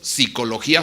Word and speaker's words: psicología: psicopedagogo etcétera etcétera etcétera ya no es necesario a pronunciarlo con un p entonces actualmente por lo menos oficialmente hablando ya no cometemos una barbarie crema gramatical si decimos psicología sin pep para hacer